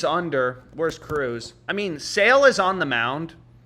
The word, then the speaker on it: Sale: des and Guerrero versus sail is tough left-handed pitcher versus left-handed batter yeah he's hit that line five out of five he's 242 against lefties it's pronounced sale so apparently it's pronounced sale so you know I mean